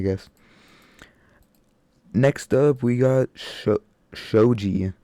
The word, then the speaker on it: Shoji: Next up, we got Shoji. Shoji, that's how you say it.